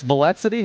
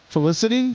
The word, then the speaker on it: Felicity: So, that's a lead singer and it's Valencity. How do you say that? Felicity. Felicity. Okay. Felicity.